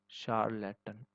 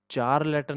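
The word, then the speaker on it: charlatan: ये सी नहीं प्रोनाउंस होगा, यहाँ पे श प्रोनाउंस होगा, शार्लेटन। ठीक है, ये शार होगा, शार, शार्लेटन। ठीक है, शार्लेटन। तो शार्लेटन होगा ये, चार लेटन नहीं होगा यहाँ पे, च मत प्रोनाउंस करना, ये श होगा, श।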